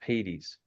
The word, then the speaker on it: Hades: Hades. Hades, it's pronounced in our English, Hades.